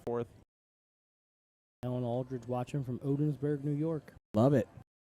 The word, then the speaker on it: Ogdensburg: Alan Aldridge watching from Odensburg, New York. Love it. Ogdensburg. Yeah. English. It's a soft G. G's don't matter.